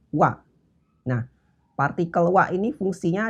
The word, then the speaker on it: は: dulu partikel waktu itu ditulis dengan grup hiragana ha tapi sebagai partikel dia dibacanya uap jadi nanti jangan kaget ya kalau ada kalimat pakainya hak tapi dibacanya Wah Nah partikel wa ini